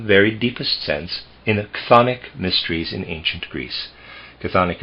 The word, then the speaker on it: chthonic: This was observed and studied in the very deepest sense in the chthonic mysteries in ancient Greece. Chthonic is spelled CHTHONIC, chthonic.